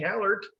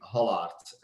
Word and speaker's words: Hallaert: Well, in my language, the Dutch language, it would be Hallaert. If in English, I'm quite fine whatever people are calling me. Just call me Kenny for the ease of things. But I would say Hallaert or Hallaert or probably the closest one. Like not the AE is at the end of my last name is actually pronounced in Well, and usually people